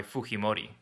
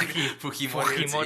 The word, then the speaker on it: Fujimori: But it's a J in there, and you pronounce it with the H sound. Fujimori.